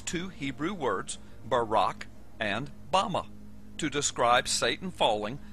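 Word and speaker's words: בָּמָה: in the Strong's Hebrew dictionary and it is pronounced Bama is most commonly used to refer to a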